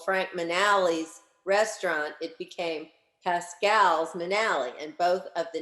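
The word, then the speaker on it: Pascal's Manale: a matter of fact pronouncing like the family did it's like it's uh well it's it's pascal's manali and it's um it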